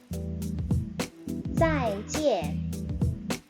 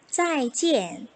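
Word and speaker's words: 再见: 再见再见 잘가 라는 의미로 쓰이는데요. 우선 읽을 때 IAN 주의해야겠죠? 이거 EN이라고 읽습니다.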